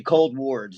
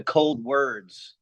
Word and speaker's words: Coldwards: of the name from, it was originally Coldwards. So you're right on that, like hospital wards. But we decided to change the pronunciation to Coldwards, like a direction towards the cold kind of thing.